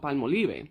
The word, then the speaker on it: Palmolive: My whole life, it's been palmolive. You can't tell me goddamn otherwise. Palmolive and palmolive will stay, not palm olive.